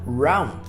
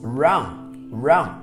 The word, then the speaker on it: wrong: Olha só que interessante, esse errado, wrong, nós não pronunciamos a letra G, nós só falamos wrong.